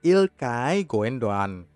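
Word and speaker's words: Gündoğan: penempatan yang benar adalah ilkay gundogan ilkay gundogan sekali lagi ilkay gundogan ingat saja tempe mendoan dari Banyumas ilkay gundogan nama pemain berikutnya adalah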